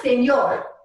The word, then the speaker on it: señor: So over the N in señor, you should see what's called a tilde, which makes it sound like an NY, as in canyons. So it's not señor, I can't even say it the way. It's señor.